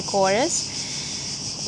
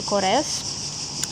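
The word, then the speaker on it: Korres: This is another Greek brand actually, Corores or I think they pronounce it here Cororez.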